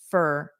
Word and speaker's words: for: So maybe this four will also become more of an an unstressed fur for I drove around for 20 minutes.